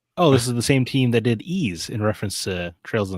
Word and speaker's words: Ys: No, I I said wise the first time I saw it. I was like, that's clearly Wise. No, Ease. I can't.